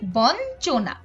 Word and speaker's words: বঞ্চনা: এগুলো যখন যুক্ত হয় তখন এর উচ্চারণ ন এর মত মতো হয় যেমন বঞ্চনা এখানে ইয় এর সাথে কিন্তু চ যুক্ত আছে তো আমাদের উচ্চারণটা হচ্ছে বঞ্চনা একইভাবে লাঞ্ছনা এখানে ইয়